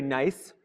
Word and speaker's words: gneiss: room, this is very gneiss. This is a rock spelled with a silent G, spelled gneiss, G-N-E-I-S-S.